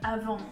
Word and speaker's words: Avant: We get these incredibly overpriced lip scrub by Avant, or Avant if you want to pronounce it in French.